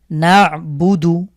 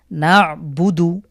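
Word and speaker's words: نَعْبُدُ: না'বুদু, নুন আইন জবর না, এই আইনের উচ্চারণ ঠিকঠাক করতে হবে। না'বুদু।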